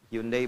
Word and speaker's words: Hyundai: Ya, Jepang bikin Honda, ya Korea bikin Hyundai. Hyundai bacanya Hyundai.